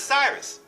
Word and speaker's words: Sirius: They pronounce it Sirius, but it's Cyrus.